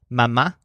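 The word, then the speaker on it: mamá: dad in English are mama and papa in each case the stressed syllables are ma and pas so you're gonna say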